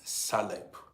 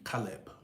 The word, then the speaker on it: Caleb: Sometimes I mis pronounce this your this your name. I call it sometimes Salb. But the right pronunciation should be Calb.